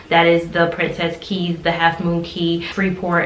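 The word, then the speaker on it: Cays: It's pronounced Keys by the locals. I think we in the States say K, but it's Princess Key, Half Moon Key.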